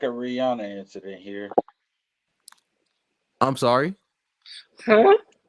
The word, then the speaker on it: Rihanna: yes we love it is Rihanna pronounce Rihanna If you guys don't know it's Rihanna yes in any other circumstance